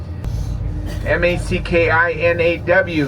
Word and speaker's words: Mackinac: You may have noticed Mackinac can be spelled two different ways. M-A-C-K-I-N-A-C is the French spelling. The French were here first. M-A-C-K-I-N-A-W, that's the British spelling. The British came second, but they are both pronounced the same, Mackinaw.